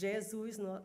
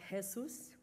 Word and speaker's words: Jesus: So the J in Jesus is Jesus, not Jesus. And then every time you have a little tilt, it makes the sound nasal, ah, and eh, and on.